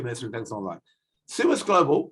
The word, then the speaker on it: Summus: Summus Global, which is pronounced Summus, not Summus, despite the fact it has two M's and they don't know how to pronounce themselves.